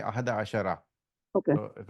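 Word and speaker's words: أحد عشر: So in this one, in fact, the word, if you were just pronouncing 11, Mm-hmm. you will simply say Ahada Ashar. You will not even say Yes. Ahada Ashara. But because Okay. it's in the middle of the sentence, you will continue to say Ahada Ashara.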